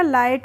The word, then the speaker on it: light: को हम क्या पढ़ेंगे एल आई को पढ़ लेंगे हम ला और टी को पढ़ लेंगे ट तो क्या हो जाएगा लाइट हो जाएगा और जी एच का प्रोनंसिएशन हम नहीं करेंगे तो लाइट मींस होता